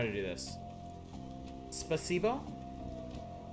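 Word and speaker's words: спасибо: Spasibo? Spasibo?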